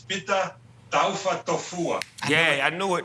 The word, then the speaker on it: Pita Taufatofua: The proper pronunciation is Peter Taufa Tofua.